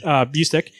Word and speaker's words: Busiek: So you go, Kurt Busiek.